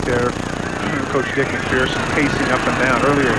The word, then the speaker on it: McPherson: Dick McPherson, the New England Patriot head coach, he prefers it to be pronounced McPherson. He says there's no fear in person.